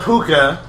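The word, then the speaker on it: púca: I just looked it up. Oh, okay. They're all puka. They're all pronounced puka.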